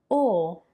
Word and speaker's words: o: O, the closed O, which is a bit more similar to how you would pronounce the letter O in English.